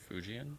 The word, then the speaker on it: Fujian: Fujian Fujian Fujian province province met a female alien.